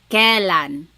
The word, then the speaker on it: kailan: You might hear some people say kailan. Sounds like an E, but it's technically spelled with an AI.